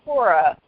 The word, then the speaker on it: Quorra: and I was just like okay so they pronounce it Cora but it's spelled with a key okay so